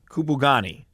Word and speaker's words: Kupugani: I have the name in front of me, but I'm afraid to even try to pronounce it. It is called Camp Kupugani. Kupugani.